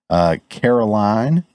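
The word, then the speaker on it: Karoline: Also, we had our new press secretary, Caroline, I believe is how you say it, Caroline Leavitt.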